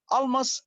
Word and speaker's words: Almas: Almas supermarket, not super. It's super, and it's not almash, it's almas, isn't it?